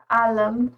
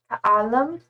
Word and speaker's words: Alam: you Alam with a long a second a is twice as long. Okay. Alam.